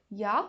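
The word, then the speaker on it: ja: means yes here also notice that the alphabet J in English has the pronunciation Y in German once again D or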